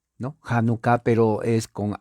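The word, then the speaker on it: Hanukkah: 23 y la palabra janucá se escribe con h la H es J Entonces se dice janucá con doble K januca no en la morfología española es con j no janucá pero es con h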